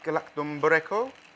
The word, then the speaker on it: Galaktoboureko: So this week's dessert is a bit of a Greek classic, Galaktoboureko. That's how I pronounce it, but it's basically a Greek semolina